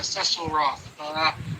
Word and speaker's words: Cecil: So I will try from now on to call him by his name, Cecil Roth, since that's how he called himself.